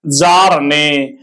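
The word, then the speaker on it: Bjarne: थी याद कर लीजिएगा जार ने बी साइलेंट है स्टड स्ट्रप स्टड स्ट्रब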